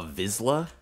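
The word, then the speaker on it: vizsla: with no weapons Clifford is a visla visla I think I'm saying it correctly a vizla yeah so vizla it's like s after Z interesting what the hell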